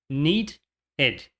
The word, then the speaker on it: needed: Need termina com o som de D, então você vai adicionar ed ao final. Need, ed. Need, ed. Needed, needed. Want.